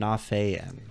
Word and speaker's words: Nafean: I tend to emphasize the A a little bit. Nafean.